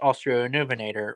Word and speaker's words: Australovenator: walking with from St Chanel version it's now pronounced australovenator which is a mega Raptor in and it